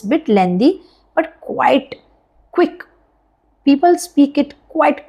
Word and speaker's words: qui: Qui means who, alright? Qui, who. Q-U-I together, we pronounce it qui.